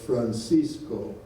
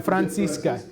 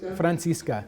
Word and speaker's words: Francisca: Not a very important point, but I think you referred to John Hall's second wife as Francisco. Probably. Did I mishear that? I've probably mispronounced a lot of words up here. Francisca, yeah. No, Francisca. Francisca. Okay, my ear.